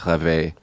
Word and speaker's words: rêver: It means if you conjugate it into a different tense in the French language, it would be pronounced rêver.